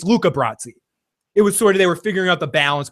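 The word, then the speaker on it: Luca Brasi: Yeah, Chris has is a but he knows movies and he shouldn't mispronounce Luca Bratzi. He he calls him Lucius Brassi or something Brahi or something.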